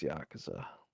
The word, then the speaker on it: Yakuza: Did I call it Yakuza? What's the correct pronunciation? Yakuza? That's how I say it. Nah, dude, it's Yakuza.